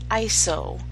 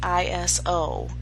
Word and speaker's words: ISO: It is pronounced ISO, not ISO. You may find me accidentally calling it ISO. I'm going to have to get used to calling it ISO. Sounds like Iceland or something cold.